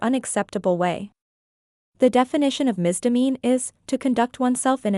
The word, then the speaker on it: misdemean: to do with a misdemeanor? The two sound similar, but their meanings are very different. Let's clear the confusion today. The word misdemean is pronounced mis-di-MEEN.